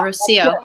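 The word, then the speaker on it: Rocío: Oh yeah, Rocio. Rocio. Great. Like, yeah, like rose in Spanish.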